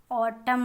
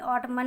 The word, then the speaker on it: autumn: एन इसके अंदर silent है। साइलेंट का मतलब ये होता है कि जो वर्ड लिखा तो लेटर लिखा तो जाता है लेकिन पढ़ा नहीं जाता। ऑटम बोलेंगे, ऑटमन नहीं बोलेंगे इसको, ऑटम।